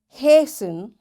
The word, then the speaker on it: hasten: Fasten, castle or castle, often, whistle, soften, hasten, bustle, and gourmet. There are different words, but in all these words, T is silent.